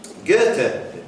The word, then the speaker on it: Goethe: Goethe, have I pronounced that properly, Clive?